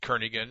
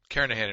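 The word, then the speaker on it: Kernighan: will be using the kernigan and Richie or Karan I should say the g is silent karahan and Richie C programming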